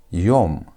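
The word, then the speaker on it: יום: Y which is y o which is hw and you have me. That makes it yum.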